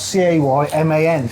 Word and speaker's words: Cayman: fisher blue but it's spelled c a y m an which is Cayman blue so up on your screen